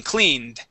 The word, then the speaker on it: cleaned: right here so uh you had said cleaned this is a d ending cleaned cleaned good good nice job